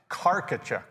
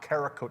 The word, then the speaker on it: Carachuk: And it's Carachuk. It's not Carak. I'm not saying you saying it. Did I say it right? No, no, no, no. I'm not saying you did. Lots of other people call him Kakachuck or Kakachuck or Kachchuck.